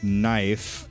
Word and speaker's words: knife: I like to sleep with my knife, but the K makes everything silent.